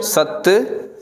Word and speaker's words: सत: ठीक है, सत संतोख ज्ञान। सत हमेशा अदक सा उच्चारण थींदो तो, ठीक आहे।